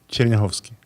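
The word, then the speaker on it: Chernyakhovsky: You can pronounce it. Chernyhovsky.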